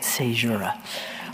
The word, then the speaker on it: Seura: the pieces in seura and that is how you say it seura all right so here